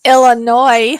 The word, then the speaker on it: Illinois: illinois yes ron it's illinois sir if the s is silent and take the damn thing out isn't that right person